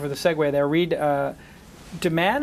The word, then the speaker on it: Dammann: So thank you for the segue there, Reid Dammann. Am I pronouncing that correct? Dammann, yeah. D-A-M-M-A-N-N. Yeah, a lot of M's, Two M's, two N's. Dammann.